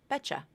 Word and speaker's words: bet you: A final T to a Y consonant gives you the CH sound. So the phrase bet you can be pronounced as bet you. Or if you reduce the oo in you, it can be betcha.